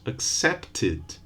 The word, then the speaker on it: accepted: Accept, two syllables. Accepted, three.